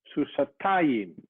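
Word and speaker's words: סוסתיים: So Noortje says that, yeah, that here comes an accent, susatayim, susayim, susatayim. Normally the accent is on the last syllable, susayim, susim. You don't see that, susot, susa. But here it doesn't go to this part, which is CVC. It goes to the part before this part, which is CV accented.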